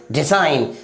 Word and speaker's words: design: अगला example DESIGN, इसे क्या पढ़ेंगे डिजाइन।